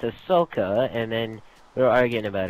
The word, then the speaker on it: Ahsoka: okay you know you know the alien chick Ashoka Ashoka you mean Ahsoka oh my God okay but how is it